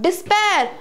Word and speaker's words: despair: First of all, let me tell you, it is not despair, as you will say D-E-S, des, and P-A-I-R, pair. But it is not despair. It's not despair. It's despair. It's not des. It is dis.